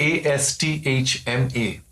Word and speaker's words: asthma: from yes and what about a s t h m a asthma yeah so asthma and not a said and e p i